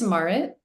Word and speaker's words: Marit: It's Marit. Uh it's like Margaret with no G. It's like the Scandinavian version of Margaret, if that helps.